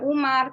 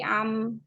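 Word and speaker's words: عمرو: Iya, tambahan waw supaya tulisan ini jadi bukan Umar tapi Amr.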